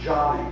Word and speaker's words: Joni: by the name of Joni actually she pronounces her Johnny Johnny Erickson tada she